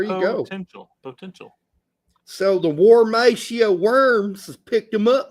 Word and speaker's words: Worms: Formerly of the Houston Dynamo Academy, spent the last 2 years playing for the Wormsia Worms. That's an actual team, and they don't pronounce it with W's. It's Worms.